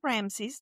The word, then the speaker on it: Ramses: say, I've met Ramses there at the beginning because it's Ramsey, yes? Mhm.